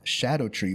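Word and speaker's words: Scadutree: you they're actually pronounced Shadow tree blessings because of some old English Linguistics that has SC be pronounced like an sh so it's Shadow tree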